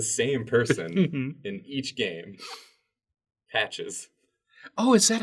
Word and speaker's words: Patches: Patches. Oh, is that how you pronounce it?